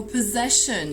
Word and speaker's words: possession: The next word, we have there two double S's, and how many times the sound S no times. So, so possession here with the stress on the second syllable, and again, one of the phonetic symbols that are difficult and we need to memorize. It is this symbol here, which is the symbol for the sound sh.